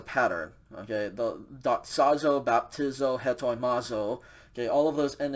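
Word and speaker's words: ἑτοιμάζω: So we're going to pronounce an H sound in front of the epsilon. This verb is said hetoimazo. Hetoimazo.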